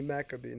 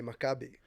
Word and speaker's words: Makabi: I say Makabi now that I'm back in the States, but in Israel, where I'm from, we say Makabi.